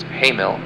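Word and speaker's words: Hamal: Ares' brightest star is pronounced Hamil, and Perseus' brightest star is pronounced Alpha Persei.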